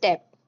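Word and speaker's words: debt: यहां पे B silent होगा। ठीक है? तो उसे हम पढ़ेंगे डे।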